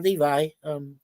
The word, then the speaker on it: Levi: Zachary Levi, or Levi, some people will pronounce it that way.